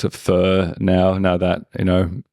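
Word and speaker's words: phở: go that's that's a reason why so so pronunciation it's not fo it's or the pronunciation or the pronunciation it's f it's p h but it's not f h right it's Fu for anyone that that needs to know and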